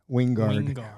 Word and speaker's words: Wingard: movie I just finished with him and he pronounces his name Wing Wingard winguard yeah so anyway so um anyway getting